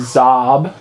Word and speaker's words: Xob: 13 he's my original character his name is zob z that's spelled xob BB his original name is unknown